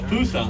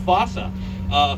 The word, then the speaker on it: fossa: i'm super impressed yeah it's called the foosa otherwise pronounced fossa fusas are uh part